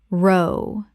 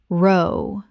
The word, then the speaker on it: row: row, argument versus row, to paddle row, the argument, British English row, rhymes with cow row, to paddle a boat row, rhymes with go Example.